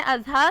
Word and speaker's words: Azha: नाम है अज़हा, स्पेलिंग है AZHA।